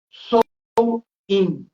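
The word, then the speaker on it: Samhain: dois três dias em que eles celebravam o sou in que se escreve mas se s o que que era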